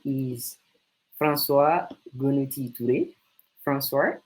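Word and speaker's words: François: name is francois gunnottitude francois it's like the pronunciation in french because i'm from different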